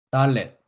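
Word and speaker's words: דלת: 달렛, 달렛, 달렛. 네, 달렛은 디귿 발음이었습니다.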